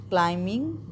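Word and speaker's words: climbing: इसमें जबकि बी भी यूज़ हुआ है। क्लाइंबिंग मैंने नहीं कहा। क्लाइंबिंग the mountain. अगर मैं बिंग बोलती तो क्या होता? बी में उसकी साउंड निकाल रही होती।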